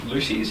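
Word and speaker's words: Loosies: And I believe for you that's Lucy's. Is that am I pronouncing that correct?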